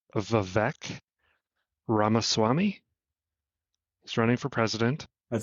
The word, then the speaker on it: Vivek Ramaswamy: I've not heard it, but I believe it's pronounced Vivek Ramaswamy.